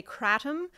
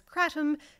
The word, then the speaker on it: kratom: Just a note about pronunciation, some people say kratom, some say kratom. Dr. Oliver Grundmann, who is one of the earliest researchers in the field, says kratom because the native pronunciation puts emphasis on the second syllable, kratom.